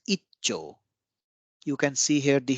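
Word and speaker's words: 一兆: of double consonant here Ichi Cho ichicho is combined as icho you can see here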